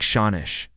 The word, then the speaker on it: sean-nós: Pronounced something like Shawnish.